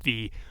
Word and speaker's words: ti: this um is that the the uh sumerian word for arrow was t we usually it sounds like the drink tea in english but we usually spell it ti um and uh the